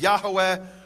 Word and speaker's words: Yahweh: the Hebrew yud V which I pronounce as yahovah others pronounce as Yahweh or yah and I won't go